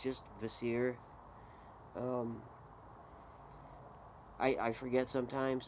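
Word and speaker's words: Kvasir: like the seer sorry it's spelled k v a s i r but it's just you just don't pronounce the k it's just vasir um i i forget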